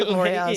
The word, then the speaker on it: Avoriaz: That's how you phonetically would say it. I think it is Avoriaz.